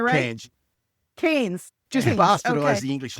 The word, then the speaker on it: Cairns: Cairns. it right? Cairns.